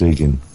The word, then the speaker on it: Igan: it correctly yeah it's Egan it's actually the original Irish spelling of Ian oh right well we